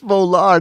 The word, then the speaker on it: Volar: second time it's Vol it's volar not Valor volar all right TR